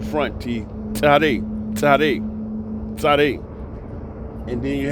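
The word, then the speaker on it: צדי: Tzare, tzare, tzare. And then you have another letter, resh, resh. That's like, okay, tzare is like TS. But the correct pronunciation of tzare, tzare, you hear that? Tzare.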